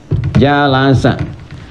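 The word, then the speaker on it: جلس: dari kata jalasa jalasa jalasa bacanya pakai bahasa Arab ya jangan pakai bahasa Inggris jealous gitu jalasa ya jalasa Apa arti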